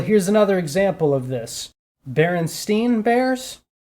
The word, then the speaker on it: Berenstain: Berenstain Bears? Or Bernstein, yeah. No, it's Berenstain. It's spelled with an A.